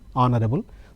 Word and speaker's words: honorable: an honorable family okay honorable H is kept silent the rest of the words I'm pronouncing honorable therefore they go with an this is this kind